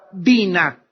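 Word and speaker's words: בינה: La palabra inteligencia en el hebreo es la palabra bina. B grande, Y, N, A, H. Bina. Otras veces simplemente se pronuncia en el hebreo bin, B-Y-N, inteligencia.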